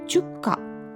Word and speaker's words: 축가: 漢字だと祝うに歌と書いて、これの韓国語読みがチュッカなんですね。